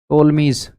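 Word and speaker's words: Ptolemy's: जो यह टोलमीज P silent है।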